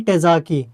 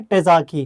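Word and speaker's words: Terzaghi: तो यहां पे आपको नाम याद रखना है डॉक्टर कार्ल टेजाकी यहां पे मैं आपको स्पेलिंग अगर बताऊं तो डॉक्टर कार्ल के आर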